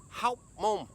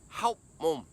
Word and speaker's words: Hóc Môn: biết đọc tên nó Tôi cứ đọc là Hậu Môn tức là lỗ đít ý Nhưng chúng ta đang không ở Lỗ Đít Chúng ta ở HÓC MÔN Tôi nên chuẩn bị